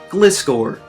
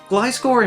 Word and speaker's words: Gliscor: Gliscor and Gligar are a pair of Pokemon that, even though they're flying types, don't technically fly. They use their wings to glide around, the same as a flying squirrel.